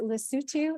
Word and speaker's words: Lesotho: And for it to be so specific, to say, now, is it Lesotho? Is that how you pronounce it? Yes. Yes.